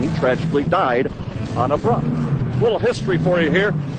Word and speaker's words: Bruff: This is a Bruff, B-R-U-F-F, how it's pronounced.